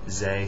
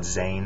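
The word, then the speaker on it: ز: This is Zay, it's the Arabic Z, it has a dot on top, Zay, some people call it Zayn.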